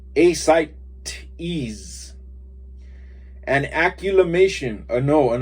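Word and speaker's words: ascites: called large round worms acetites pronounced asylum ease is ease a site ease an acculimation a no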